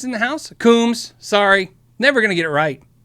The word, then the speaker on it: Coombs: Combs in the house? Coombs.